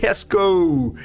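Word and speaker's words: Jesko: The Koenigsegg Hesko. Absolute. Yeah, that's how you say Hesko.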